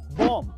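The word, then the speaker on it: bomb: And last number four, अगर किसी word में एम के बाद बी आए तो उसमें बी साइलेंट रहता है, जैसे कि होम, बॉम, थम, डम।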